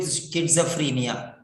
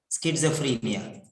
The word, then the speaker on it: schizophrenia: Skit, skit, skit, like sit, skit, skit, sa, not za, sa, sa, skitsa, free, F-R-E, free, ni, schizophrenia.